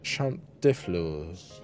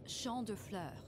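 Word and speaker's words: Champs de Fleurs: Champ de floors. Champs de floors? How do you say that? It's champ de fleurs. I was pretty close.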